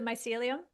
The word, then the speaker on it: mycelium: I think it's called miscelium mycelium. I don't know how to pronounce it. It's and that's really I think where the most unknown part of the mushrooms is. Yeah. Yes. You you nailed it. It's the mycelium and yes it